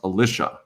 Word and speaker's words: Alisha: And her name is pronounced Alisha, by the way, if you're new here.